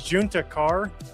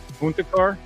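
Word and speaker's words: Juntakharr: But it was a it was Juna Carr. Um, which was a Star Wars name, and you kept pronouncing it Hispanic because of Texas.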